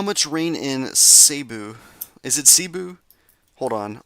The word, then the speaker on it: Cebu: So I I want to know how to pronounce that. Sabu. Seeu.